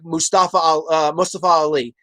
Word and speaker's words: Mustafa Ali: see is somebody like Mustafa Ali. I want to pronounce his name right because I don't want to seem insensitive. That's how his name is pronounced. I don't want to say it wrong.